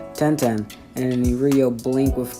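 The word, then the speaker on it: Tenten: at a wolfie gophy sorry and that's how they say it ten-ten and in real blink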